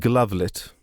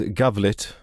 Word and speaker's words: Glavlit: I just want to say that I realized halfway through recording this that I mispronounced Glavlit as Gavlit for some reason.